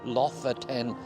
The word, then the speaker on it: Lofoten: I looked up the pronunciation and I'm told that's how it's pronounced, LOFOTEN Islands.